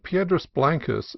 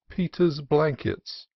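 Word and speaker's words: Piedras Blancas: greater Oddities of pronunciation at San Simeon where I heard Pedra blanas seriously referred to as Peter's blankets and a Royo Cruz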